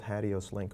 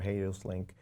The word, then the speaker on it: HATEOAS: Comes something called Hadios link or Hadios link. People pronounce it in all kind of different ways.